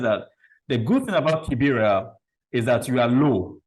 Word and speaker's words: Kibera: And so maybe you want to tell us a bit of Kibera. Is that how it's pronounced? Kibera? Yes. Kibera.